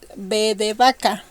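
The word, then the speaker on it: vaca: and this one is Baka Baka cow Baka which is written with Baka or be okay as you see there's no difference between the pronunciation so you have to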